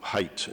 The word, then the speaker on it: Haidt: cite the behavioral psychologist Jonathan Haidt who height is how he pronounces it h AI DT where he says you